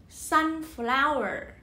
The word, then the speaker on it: sunflower: Fry their potato in a little, okay, in a little sunflower. Trọng âm rơi vào âm tiết thứ nhất thôi nha.